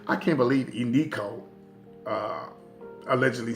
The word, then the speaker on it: Eniko: She said, I can't believe Eniko allegedly said something on social media and that